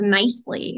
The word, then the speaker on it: Knisely: didn't take it but i use it as nicely and i get can easily some people call